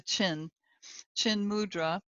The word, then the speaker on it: chin mudra: This is also known as chin mudra, like it's spelled like the chin mudra, and it represents the